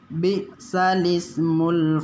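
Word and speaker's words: بئس الاسم: Jadi bacanya nanti bukan bi'sal ismu, tapi bacanya bi'salismu. Kita coba praktek ya. Bismillahirrahmanirrahim. Bi'salismul fusuqu ba'dal iman.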